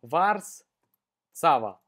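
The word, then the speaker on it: Warszawa: панельку и ээ вписываем Wars Сава вот так вот по-польски правильно звучит и пишется этот город Варшава и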